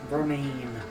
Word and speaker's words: Vermine: Vermine. It's, Vermine. it's That's- spelled like Vermilion, but a lot of the people pronounce it Vermilion.